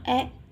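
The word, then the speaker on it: へ: Di poin A ada tempat, ada partikel e, ada kata kerja ikimas, kimas, dan kairimas. Di sini he, tapi dibacanya e ya.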